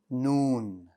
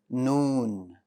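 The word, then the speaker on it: نون: pronounced as the following noon noon noon very good the letter noon is light that means the back of your tongue is going to stay flat and you're going to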